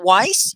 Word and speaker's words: Weiss: Weiss.